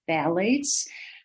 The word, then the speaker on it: phthalates: The pH is silent, so this is phthalates.